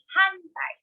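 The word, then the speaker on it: 反対: So since the appears before the ta, it is pronounced as So we have hantai.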